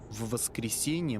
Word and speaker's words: в воскресенье: Notice the long v sound at the beginning.